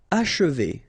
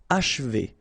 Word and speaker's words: achever: Achever, okay? And then if you want to pronounce it the way French people will do, so don't insist too much on this and you will get H, achever, achever.